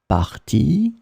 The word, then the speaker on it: parti: In this lesson, we will see together two words that are written differently but pronounced the same way. Partie, partie.